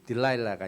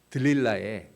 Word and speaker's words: 들릴라: 옛날에 그 조용남 씨라고 가수 있었죠?이 이 가수가 불렀던 노래가 딜라일라고 하는 노래가 있었어요.이 딜라일라가 이제 들릴라의 미국식 발음이에요.